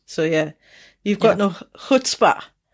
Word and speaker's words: chutzpah: yeah you've got no hutzpah hutzpah did i say it right we'll take it you need that like you're clearing the back of your throat no more hurts but